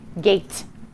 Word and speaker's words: gate: my word says gat i need to remember to put in my silent e and i write it small in the corner to show that it doesn't get to talk and now i have the word gate now i'm going to